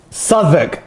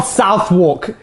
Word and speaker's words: Southwark: to get a coffee southwark suffolk not south walk you tourist a bit aggressive